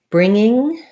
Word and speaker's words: bringing: to bang bringing um so bringing is like singing we just use the n-g sound both times uh so what you want to watch out for is don't let a g sound not bringing but bringing you're lifting in the back for the ng and you're sliding right